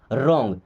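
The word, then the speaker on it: wrong: Is means है रॉन्ग। देखिए यहाँ भी डब्ल्यू हमारा साइलेंट होता है। ओके, अगर डब्ल्यू के बाद में आर आ रहा हो तो फिर डब्ल्यू साइलेंट हो जाता है।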